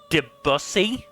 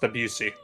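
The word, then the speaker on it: Debussy: composition I'm sorry Claude debsy I believe it's pronounced abusi you know that that's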